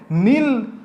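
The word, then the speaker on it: Nile: और ये कहां पर बसी थी किस नदी के किनारे नील रिवर या फिर बोल लो नाइल रिवर जो भी तुम चाहो प्रोनाउंसिएशन अपना कर सकते हो।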